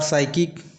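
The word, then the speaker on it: psychic: उसी प्रकार साइकोनिक उसी प्रकार साइकिक इसमें भी पी साइलेंट होता है।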